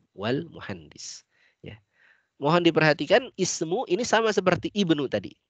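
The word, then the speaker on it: اسم: Tapi kalau dia di tengah, tidak diberi harokat kasrah lagi. Wasmu, wabnu. Ya.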